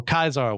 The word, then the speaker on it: Caesar: doesn't get revenge against Caesar or kaisar which is actual correct Latin pronunciation but I'm going to